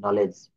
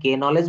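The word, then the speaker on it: knowledge: আমরা কি এখানে কে নলেজ বলি? বলি না, আমরা এখানে বলি নলেজ।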